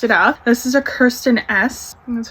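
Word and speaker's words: Kristin Ess: This is a Kirsten S, that's how you say it, Style Reviving Brunette Dry Shampoo.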